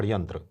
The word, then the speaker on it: षड्यंत्र: और षटकोण वाला जो स होता है सर, उसका मिश्रित उच्चारण रहता है, जैसे अच्छा। षड्यंत्र। षड्यंत्र। हाँ, जैसे आधा श और आधा स, हाँ हाँ इसको तालव्य श भी बोलते हैं। हाँ। तो उसका मिश्रित उच्चारण रहता है। जैसे इसको बोलेंगे, स्पेसिफाई करेंगे शर्मा, और उसको बोलेंगे षड्यंत्र।